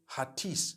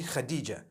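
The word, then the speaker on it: Hatice: In Turkish, some people spell it H-A-T-I-C-E. I would say Hatis for that. No, it's actually Khadija.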